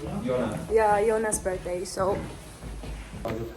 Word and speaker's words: Jonas: You say his name Jonas? Jonas.